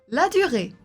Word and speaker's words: Ladurée: description on continue écoute et répète la bonne prononciation la durée la durée Jef de Brugge Jef de Bruges